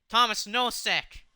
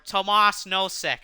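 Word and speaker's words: Tomáš Nosek: he lost the puck Thomas no sick for Boston Thomas no sick or Tomas no sick actually is how you pronounce it here's darn it Hathaway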